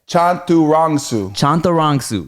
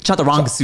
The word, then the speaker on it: Chantarangsu: So it's just like it's spelled. Can I try again? Yes. Just look at it. Look how it's spelled. It's just like that. But all the as are Oz.